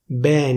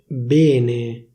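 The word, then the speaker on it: bene: In certain words, this letter should be pronounced as open /è/, but in Milano it's pronounced as close /é/. For example, instead of saying /bène/, people from Milan say /béne/.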